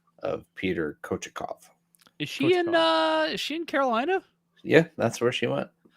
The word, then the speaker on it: Kochetkov: Kachetkov. How do you say it? I'm gonna get Kurt a Peter Sidorkowitz jersey for Christmas. Kochetkov.